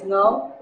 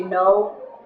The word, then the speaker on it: Ngo: My last name is Ngo. And people can't pronounce the G in there, so sometimes they say no, and sometimes they say Ngo, so I just stuck with that.